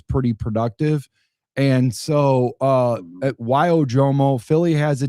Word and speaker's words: Ojomo: Yeah, Ojomo.